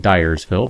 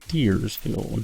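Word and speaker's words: Diersville: go check out deersville been saying dville but if you look at how it's spelled it's d i e r technically that would mean deersville not dville but whatever I don't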